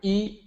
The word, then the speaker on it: I: that's iguan dao so the first character e that's the i actually pronounced like y i and then guan written